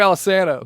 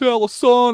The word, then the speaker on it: Alesana: We're Alana. Like, it's Alison.